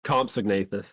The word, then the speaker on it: Compsognathus: Is it pronounced Compsognathus? It's Compsognathus.